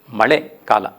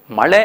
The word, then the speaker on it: ಮಳೆ: ಮಳೆ ಅನ್ನುವಂಥದ್ದು ತಮಿಳಿನಲ್ಲಿ ಮಳೆ ಅಂತಲೇ ಹೇಳ್ತಾರೆ. ಆ ಮಳೆ ಅಂತ ಹೇಳುವಾಗ ನಿಮಗೆ ಅದು ಉಚ್ಚಾರ ಬೇರೆಯಾಗಿರೋದನ್ನು ಗಮನಿಸ್ಕೊಳ್ಳಿ.